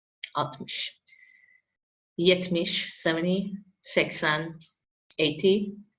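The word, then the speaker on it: altmış: 40 50 atmosh 60 don't forget that we write is write it mostly as atmos but we don't pronounce the el atmish yet mish 70 sexan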